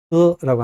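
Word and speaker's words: 喝: 자, 마시다라고 할 때 흐라고 합니다. 그냥 허가 아니에요. 허 하지 마시고 흐라고 발음해야 돼요.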